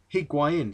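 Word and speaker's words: Higuaín: pronounce it anymore but it's argentinian so it'd be a spanish pronunciation pronunciation which would be higuain sorry i'll keep itching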